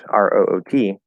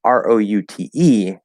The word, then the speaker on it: route: But R-O-U-T-E can be pronounced route or it can be pronounced root.